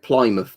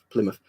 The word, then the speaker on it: Plymouth: gonna force the pronunciation oh yeah you don't pronounce it Plymouth do you apply now Plymouth the one a lot of Americans don't know